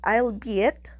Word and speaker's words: albeit: anthony lighten your anxiety the archaic word albeit does not rhyme with eight you see it with